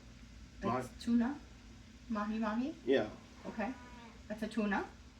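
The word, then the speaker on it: mahi-mahi: it was like how always say it wrong mayi mayi tuna mahi mahi yeah okay that's a tuna it was pretty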